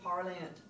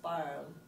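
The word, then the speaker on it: parlent: This is parle, parle, parle, and parle. I know you want to do it, but please don't do parlant. Ooh, it's parle. So, répétez, je parle, tu parles, il parle, elle parle, il parle.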